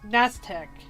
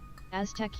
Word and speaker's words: Aztec: Naztec. I think I said the name wrong, but they sacrifice people so the sun would keep coming back up. And that's pretty much... SME_Shalala said, Aztec yep. Yeah, thank you. I knew I was saying it wrong.